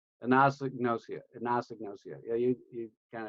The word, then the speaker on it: anosognosia: never pronounce a damn word if you can pronounce it it should be an indicator than yeah nausea and it's anosognosia agnostic nausea yeah you kind of drove it